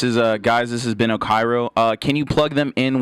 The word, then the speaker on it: Okyro: Everyone pronounces it Okiro or something like that. It's Okyro. It's Okyro, guys.